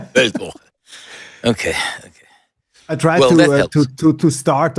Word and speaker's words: Weltwoche: what's the right manner to pronounce Weltwoche? I hate to say you are absolutely right. Weltwoche. Weltwoche.